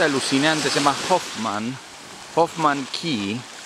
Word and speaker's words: Cay: se llama Hoffman Hoffman Ke se escribe c o c a y pero se dice K no y es y